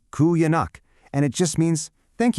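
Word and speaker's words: qujanaq: It's kuganak. It's pronounced pretty much like kuyanak, and it just means thank you.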